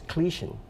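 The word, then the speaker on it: Kleeschen: There's the word for this the Saint Nicholas person in Luxembourg is Clichen. That's how they say it.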